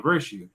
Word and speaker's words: VIR2UE: to say, well, yeah, it would still be pronounced virtue if I make it a 2.